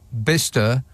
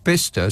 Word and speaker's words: Bicester: well just barely yeah why is bister spelled Bicester what what's the C and the e in there for other than to just confuse non-locals Bicester is bister why it's obviously B